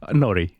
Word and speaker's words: Nori: Is it Nori or Nouri? Yeah, you can say it both ways. Well, how do you say it? Nori.